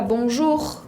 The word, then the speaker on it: bonjour: no la era por ejemplo en la palabra bonjour bonjour escuchan que la pronunció don roose ahí si suena o lo